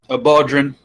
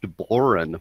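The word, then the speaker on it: bodhrán: They had one guy had a lute, one guy had a baudrin, so just a drum, and another guy had a tin whistle. Here's where I pop in and I say it's pronounced Boren, believe it or not.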